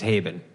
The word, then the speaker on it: Haibon: only fair that you forgot how to pronounce mine which is Haven yes yes haben